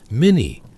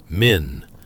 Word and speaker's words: Min: Mini, I mean men.